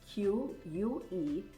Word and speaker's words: QUE: It's a 3-letter framework, QUE. You can pronounce it Q, or you can pronounce it que, as in Spanish for what, which is often what